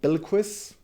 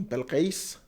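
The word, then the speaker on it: Bilquis: same is true for bill quist or as you know we call it an arabic persian pronunciation bell case but she becomes more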